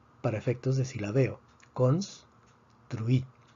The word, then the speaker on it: construí: Vemos que la palabra termina en vocal, por lo tanto predecimos que la fuerza debería estar en la penúltima sílaba, sin embargo está en la última sílaba, entonces necesitamos escribir un acento de excepción.